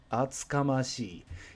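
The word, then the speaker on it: 厚かましい: Atsukamashi. Yakamashi is very similar in pronunciation. Instead of ya, you've got atsu.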